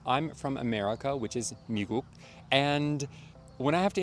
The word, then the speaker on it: 미국: making fun of, but one of the stereotypes that Koreans have about English speakers pronouncing Korean is that 미국 becomes like 미국, which I've never really understood because every time I've heard an American pronounce 미국 with a very, very American accent, it's always come out as a G and not a K. It's come out like 미국, not 미국. So I don't know where that's from.